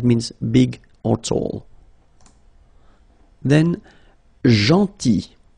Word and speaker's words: gentil: Then, gentil. So remember, this final L is not pronounced. Gentil.